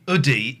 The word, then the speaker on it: Oodie: Effing Oodie. Oodie. Oodie, like hoodie.